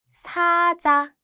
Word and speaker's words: 사자: 사자, 사자.